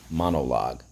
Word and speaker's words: monologue: okay so um monologue let's go mon o log now this is a little bit unusual we use two letter g think of the word guitar and silent e monologue let's go three syllables mon first syllable second syllable o third syllable log and it just so